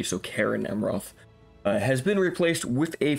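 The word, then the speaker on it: Caras Amroth: Roth or certain amroth I think it's think you pronounced it like you would a k so Karen amroth has been replaced with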